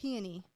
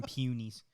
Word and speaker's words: peony: It's a peony. I always pronounce those wrong. Peony. It's peonies. Peony. One peony is a peony. Yeah, but I always call them peonies.